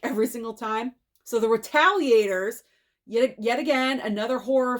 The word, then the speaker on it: Retaliators: title of this because you want to say the retailers but it's not it's the retaliators there we go I always always almost make that mistake every single time so the retaliators yet yet again another